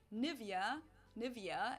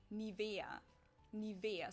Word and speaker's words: Nivea: pronunciation pretty funny here English native speakers usually say Nivea Nivea in German we say Nivea Nivea so the emphasis is on the Eva this is a